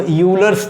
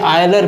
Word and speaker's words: Euler: इसके उच्चारण में कहीं कहीं दिक्कतें लोग करते हैं, क्योंकि कुछ लोग इसको यूलर्स थ्योरम पढ़ लेते हैं, लेकिन बताया जाता है कि ये आयलर प्रमेय इसका उच्चारण है, क्योंकि ये विदेशी व्यक्तियों